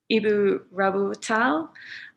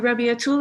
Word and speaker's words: Rabiatul: Ibu Rabatul, sorry, I've pronounced that badly. Rabatul, the screen is yours for 15 minutes. Thank you. Ibu Rabiatul, I think you might still be on mute.